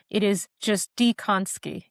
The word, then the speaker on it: Dziekonski: I think my husband's family made an executive decision and they've made a few of the letters silent. It is just Dziekonski. Dziekonski. An Yes.